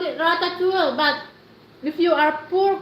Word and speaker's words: ratatouille: Mayaman call it ratatouille, but if you are poor, call it pinakbet instead. Yes, that's right, Philip. That's the correct word. How do you pronounce that? Ratatouille. Ratatouille.